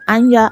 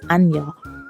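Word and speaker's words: Anja: i modeled the name anya i think it's called although it's spelt a n j a but i think it's pronounced anya and ollie they founded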